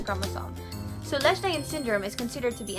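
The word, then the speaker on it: Lesch-Nyhan: It's Leishmanian syndrome, everybody.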